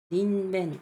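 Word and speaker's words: にんべん: 왼쪽에 들어가는 거 히토헨, 닌벤 이런 느낌으로 쓰기도 하고요. 벤이라고 읽어요. 왼쪽에 들어가는 건요.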